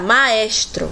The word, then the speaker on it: maestro: estacado tia pode pronunciar maestro e ele também se faz vogal e na conexão a gente ver ao falarmos maestro eu pronuncio 3 sílabas e o movimento minha boca três vezes então temos aqui um